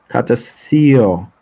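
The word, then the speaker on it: katesthiō: Devours in Greek, it's pronounced ka, katestheo, which means to either eat up, devour, or it also can means emotional abuse.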